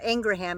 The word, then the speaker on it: Ingraham: mangle moose knuckle was being interviewed by Laura Ingraham and yes that's how you pronounce her name even her brother said so